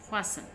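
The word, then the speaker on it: fasten: ये हम इसको फास्टन नहीं पढ़ते, फास्टन नहीं पढ़ते, इसमें टी साइलेंट है। फासन, ठीक है, फासन पढ़ते हैं इसको हम।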